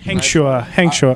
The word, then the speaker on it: Hengchua: Hengchua.